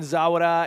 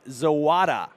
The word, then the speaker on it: Zawada: from the Cranbrook faithful Colton zawara is pronounced zawada thank you for the correction